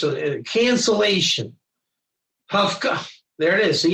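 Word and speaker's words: הפקעה: Hafka. There it is. See, it's pronounced Hafka.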